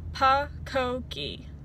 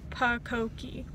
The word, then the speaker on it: pucokie: And I kind of combined it into a word and I pronounced it pucokie. So that's the phonetic spelling, is pucokie.